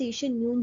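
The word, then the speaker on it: Jon: है यह मिला है यून फ से स्पेलिंग उनकी ऐसी है बट प्रोनाउंस यून ही करेंगे और यह नॉर्वे के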